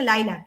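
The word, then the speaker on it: lilac: লাইলাক, এই যে এটার প্রনাউন্সিয়েশন হচ্ছে লাইলাক, ঠিক আছে, কিন্তু তুমি বানানে গিয়ে আবার ভুল করিও না, বানানটা দেখে নাও।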